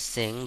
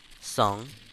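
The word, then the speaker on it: Tseng: I always used to pronounce it as Sing, but crisis score, Song.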